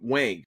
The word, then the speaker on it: Wang: It is I think it's Wong, right? I'm Wang. Wang. Oh, you Yes, Wang.